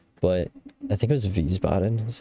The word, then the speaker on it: Wiesbaden: it to you, but I think it was Wiesbaden is how you say that. Wiesbaden, Germany.